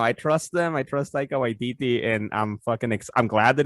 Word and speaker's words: Taika Waititi: It's Taika Waititi.